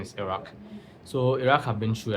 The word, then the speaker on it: Iraq: Some people call it Iraq, but the correct pronunciation is Iraq.